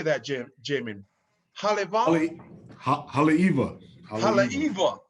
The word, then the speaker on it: Haleiwa: Haleiwa.